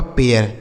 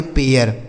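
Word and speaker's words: pair: से हो गया प, ए आई का उच्चारण एया होगा, क्यों, क्योंकि इसके बगल में आर है। तो यह हो गया आपका पेयर, ठीक है। इसे पढ़ेंगे पेन, इसे पढ़ेंगे पेयर, ठीक है।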